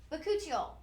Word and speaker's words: bakuchiol: Pronunciation party. Bakuchiol. Okay, we have our Silk Genesis Bakuchiol.